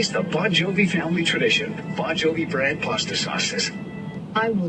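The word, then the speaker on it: Bongiovi: would pronounce it correctly bonjovi is actually spelled b o n GI i o v i but pronounced the same as the band bonjovi Brad pasta SAU is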